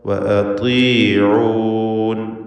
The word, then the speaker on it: وأطيعون: ഇവിടെ ത്വാഇന് കസ്റായതുകൊണ്ട് ഏറ്റവും കുറഞ്ഞ തഫ്ഖീം അതിനും കൊടുക്കുക. വഅതീഊൻ എന്ന് ഓതുക. ബാറക്കല്ലാഹു ഫീക്കും.